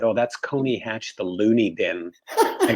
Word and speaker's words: Coney Hatch: It was originally spelled Colney, but not pronounced Colney. It's pronounced Coney Hatch. And so we just took the L out.